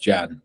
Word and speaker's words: Can: half Turkish and uh it's spelled can but pronounced Jan I mean a Turk